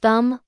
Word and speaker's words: thumb: Take the letter B at the end of words like thumb, lamb, and climb. It's always silent when it comes after M.